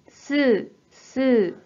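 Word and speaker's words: 吸う: 자, 이 한자 뜻으로는 す、す、 라고 발음해 주시고, 음으로는 きゅう、きゅう。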